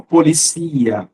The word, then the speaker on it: policia: Polícia, substantivo, policia, verbo. que mais? O ditongo cia vira hiato, cia. A sílaba tônica li vai para a sílaba tônica si.